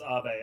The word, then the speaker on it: Abe: Yes, I know that like he's Japanese, so it's pronounced Abe.